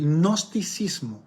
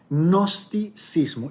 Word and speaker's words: gnosticismo: algo que se llamaba el gnosticismo se escribe con ge gnosticismo que les voy a